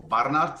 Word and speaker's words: Barnard: me um yes Barnard or Barnard as they would pronounce it in South Africa and yes uh been